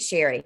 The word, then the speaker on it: Cherie: So thank you, Cherie, and I apologize for mispronouncing your name. That's my middle name is Cherie too. So it's spelled like Sherry Belafonte. And she pronounces it Sherry.